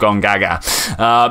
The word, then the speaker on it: Gongaga: That is actually how it's pronounced, Gongaga.